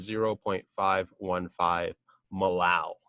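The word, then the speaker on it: molal: point five one five Millau that's how you say it Millau and then finally what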